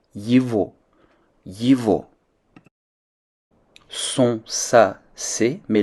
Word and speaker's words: его: Son, sa, c'est, lorsque le possesseur est masculin ou neutre, se traduira par yivo. Le ge qui se trouve toujours entre ye et o en russe se prononce comme un v. Yivo.